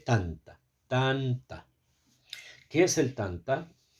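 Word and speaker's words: טנתא: sus alumnos estudiaba, eh, lo llaman tanta tanta, que se escribe tav, t nun, perdón, no t no t, sino tet tet nun. Taf alif. Tet nun. Tav alif. Y se lee tanta.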